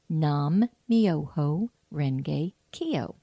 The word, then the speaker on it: Nam Myoho Renge Kyo: Nam Myoho Renge Kyo. Nam Myoho Renge Kyo.